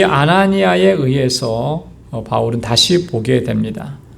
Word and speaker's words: 아나니아: 이 아나니아라고 하는 이름은 헬라 음역된 이름, 헬라어로 발음이 되는 이름이에요.